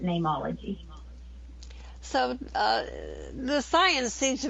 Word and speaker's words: Neimology: It's Neimology. It just has a Latin spelling because you can't trademark a common word like name. And so I spelt it how name is said in Latin, which is N-E-I-M, but I still pronounce it Neimology.